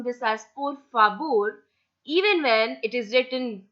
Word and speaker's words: por favor: So if you ever notice a Spanish speaker speaking Spanish, so the pronunciation of V in Spanish is always pronounced as B.